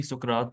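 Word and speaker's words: سقراط: रा डिवाइड किया गया क्योंकि इसका जैसे ही सुकरात ने यानी उर्दू में इसको सुकरात प्रोनाउंस करते हैं तो सोक्रेट ने जो जैसे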